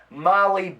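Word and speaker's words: Mali: But this past Saturday, my daughter Julia, who from this moment going forward on the show will be known as Molly Bishop. And you can spell that M-A-L-I Bishop.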